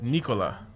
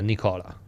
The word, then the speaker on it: Nikola: ready for that commitment nicola yeah it's it's nicola yeah nicola nicola yeah i think you're more prepared for that i think you should do it make a commitment to do it right yeah a pledge nicola nicola um what were we saying oh right